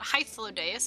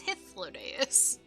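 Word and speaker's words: Hythlodaeus: and his ladeus and he pronounced his name for me so now I know it's not hyphilodes it's hiflodious that being the case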